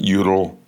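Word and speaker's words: Jutul: fighting the util family, spelled J u t u l, but I think they pronounce it utel.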